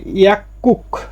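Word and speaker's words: 약국: 9 number আছে ইয়াকুক। এই যে গিউকের পরে গিউক আসলে ক হয়, এই জন্য উচ্চারণটা হবে ইয়াকুক মানে ফার্মেসি।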